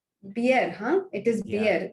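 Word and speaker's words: Bjerre: think I think it's pronounced as Pierre. Beer, huh? It is Yeah, beer. The J yeah, is silent.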